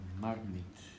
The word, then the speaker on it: Marmite: Marmite. The last bit is it. Marmite. Yeah, okay. Number 4, number 6. The number 6. Okay. It's long. It's a long R sound, marmite.